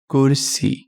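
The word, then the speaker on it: ਕੁਰਸੀ: and their sounds okay the very first word that we are going to look at today is kursi kure si kursi okay let's write it down first word kursi i can hear the sound of ker right so i will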